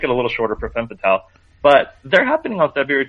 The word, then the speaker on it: Femme Fatale: It's French, so the S's are silent at the end. It's Femme Fatale.